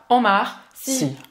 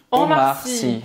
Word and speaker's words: Omar Sy: Então, S-Y, a gente vai pronunciar como se fosse Si, tá? Omar Sy. Omar Sy.